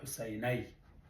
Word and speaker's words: حسیني: حسیني که موږ دا شی ولیکو، دا بیا څنګه تلفظ کېږي؟ حسینی، لکه سړی. نو دا حسیني ده.